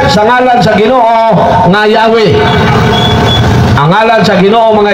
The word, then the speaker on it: Yahweh: yapon mao nga ang Yahweh YHWH sa Latin JHBH pero sa paglitok Yahweh lang yapon ay kay ang pronunciation o ang paglitok sa J pwede po og Y mo nang